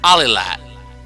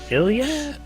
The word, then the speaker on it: Alilat: Iliad? No, I used to pronounce it that way, but it's A-L-I-L-A-T.